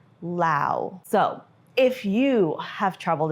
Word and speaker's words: Laos: So we're gonna go ahead and pronounce it Lao from here on in because we have traveled here and now we can correct everybody and be like, it's actually Lao.